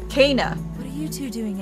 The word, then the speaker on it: Kena: My name is Kana. Kana. What are you two doing? That's how you pronounce it.